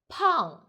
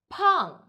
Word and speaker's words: 胖: 我们一起读 Pàng, Pàng, P, F for out, P.